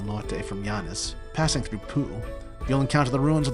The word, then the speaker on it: Poo: panoramic Coastal views of poo it's pronounced po that said and I